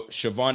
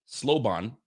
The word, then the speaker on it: Siobhan: Yo, Siobhan is how you say it. Oh, Siobhan. Hold on a second. I see an L in there. Sloban, but it's really Siobhan.